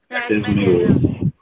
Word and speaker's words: pragmatism: प्रेगम, इसको क्या प्रोनाउंसिएशन होगी, प्रेगमेटिज्म। pragmatism, हाँ, pragmatism.